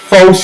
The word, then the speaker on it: faux: keeping track at home that's f-e-a-u-x the x is silent it looks like a